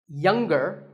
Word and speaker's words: younger: Younger, again with the G, but singer, no G.